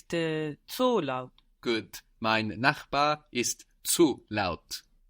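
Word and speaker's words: gut: word for good is good g u t and that U gives us a long o sound likeing food good good my neighbors are good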